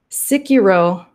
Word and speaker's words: Sekiro: My gosh, Sekiro.